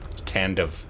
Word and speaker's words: Tandav: Is that how you pronounce that? Tandav.